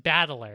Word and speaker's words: Battler: That's but it's pronounced Battler, and so all the rest of his family is also like this.